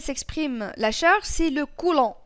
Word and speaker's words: coulomb: L'unité pour laquelle s'exprime la charge c'est le coulomb. تتكتب coulomb mais الب ما تتنطقش.